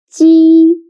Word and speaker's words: 鸡: 鸡.